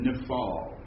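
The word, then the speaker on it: Niphal: helps it helps it'll help you if you pronounce that correctly nifal Nal okay because that's going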